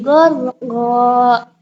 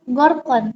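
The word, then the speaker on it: غرقا: Nah, contoh yang kedua, wan nazi'ati gharqa. Gharqa, bukan gorkon, tapi gharqa.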